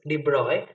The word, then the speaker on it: de Broglie: as de bruyne because his name is pronounced as de broy so de bruyne stated